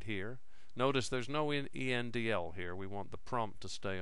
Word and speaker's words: endl: The 'endl' here means that a new line character is also written to the screen.